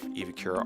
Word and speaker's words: EVAkura: Is it EVAkura? I'm the owner of EVAkura Armor, and I'm from Whidbey Island, Washington.